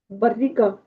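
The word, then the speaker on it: barriga: такого барига. Барига. Так як ґ читається ця буква, якщо далі нема і або е.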